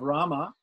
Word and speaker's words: Rama: But there's this mantra that says that this holy name of Rama, these two syllables, Ra, long R, long A, M, short A, Rama, is equal to the whole 1,000 names of Vishnu.